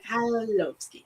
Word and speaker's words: Mikhailovsky: Mikhailovsky. Okay. No, skip the K and just pronounce the H and you'll get it.